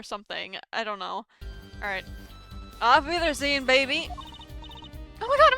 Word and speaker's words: Auf Wiedersehen: Auf... Wiedersehen... Okay, hold on. I need to look that up. Auf... Wiedersehen...